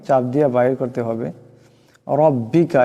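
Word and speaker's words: ربك: দিয়ে বাইর করতে হবে রব্বিকা এখানে উপর জবর আছে রাকে মোটা করিয়া পড়তে হবে রব্বিকাফিরুহু এখানে ওয়াও সিনকে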